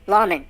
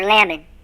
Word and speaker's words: lamen: These parchments are often referred to as laymen, or the Latin pronunciation, lawman or lamen.